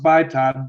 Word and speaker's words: BITOD: Okay, well, when Malaysia 370 was first hijacked electronically at BITOD, it's pronounced BITOD, BITOD.